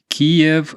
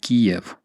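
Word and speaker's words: Kyiv: the Trump impeachment the ambassador to Ukraine said Kev and that is when I started changing my pronunciation and seeing the key of spelling yeah that's the thing we have this hashtag saying K not Kiev um to ukrainians it's a big deal actually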